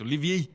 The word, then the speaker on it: Olivier: And he said, I was pronouncing it wrong anyway. It's Olivier.